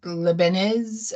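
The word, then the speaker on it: Leibniz: and lein now Dart I know it's not pronounced lein but leenz I'm not sure Dart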